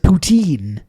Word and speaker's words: poutine: just the regular ass Putin at level Provence which you can get all over the place please pronounce it poutine we're American except those